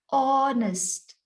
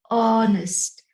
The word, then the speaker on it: honest: do not say honest the h is silent in this word you have to say honest oh so it is an awe sound honest and because it has